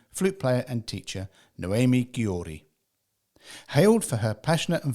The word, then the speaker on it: Gyori: Gyori.